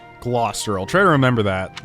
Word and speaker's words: Gloucester: name Lawrence Hellman Gloucester its Gloucester okay I keep trying to hear every time they pronounced it but somehow it just kind of misses my ear Gloucester I'll try to remember